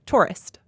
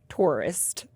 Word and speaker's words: tourist: Tourist. Tourist. Tourist. Tourist. I don't quite say it like a Taurus and then with a T on the end.